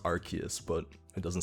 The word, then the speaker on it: Arceus: And yeah, I know it's pronounced Arceus, but it doesn't sound as epic as Arceus.